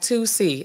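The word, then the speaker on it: tusi: about with the toy the toy like pronounced like the number two in the letter c that is um David down thank you David let put myself up it's pronounced like 2C I could find the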